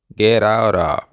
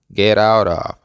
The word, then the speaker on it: get out of: se pronuncia Let let la siguiente tres palabras se van a unir y van a sonar Get out of Get out of aquí la t de get y la t de out van a sonar como una r suave por lo tanto las